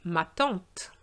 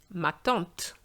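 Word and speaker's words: ma tante: and then you have matant matant the t is pronounced because of the final e and then for cousins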